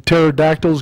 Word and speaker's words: pterodactyls: you can't hear when pterodactyls go to the bathroom the p is silent oh yes okay